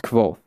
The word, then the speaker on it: Kvothe: My name is Kvothe, pronounced nearly the same as Quoth.